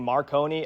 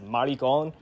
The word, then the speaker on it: Marconi: They kept pronouncing Marconi as maricon.